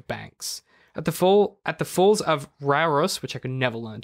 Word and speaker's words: Rauros: At the falls of Rauros, which I could never learn to pronounce, R-A-U-R-O-S, Rauros.